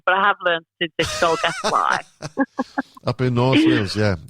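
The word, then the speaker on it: Dolgellau: family down in a place I call it doll galoo but it's pronounced do guess why doll galoo dollar Glo that's that's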